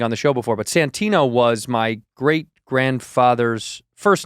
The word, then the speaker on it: Santino: Well, like when I was a kid, they would always say Santiago or Santini, because the great Santini. Yes, right. But it's Santino. It's unmistakably easy to pronounce. It's the letters is the words. Exactly. It's that Santino.